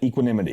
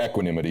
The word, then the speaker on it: equanimity: it for me and i think she pronounced it equanimity yes yes what's equanimity okay or equanimity depending on how you say it by the way each is fine so google lied to